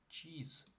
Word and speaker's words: cheese: І тому читаємо cheese. Е, на кінці в англійській дуже часто не читається, тому просто cheese.